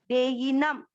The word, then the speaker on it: देहिनम्: देही छोटी मात्रा है, लंबा नहीं, देहीनम, देहीनम।